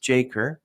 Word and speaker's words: JACRE: from his initials J KR his moniker jaker pronounced jaker represents both of fresh start and a tribute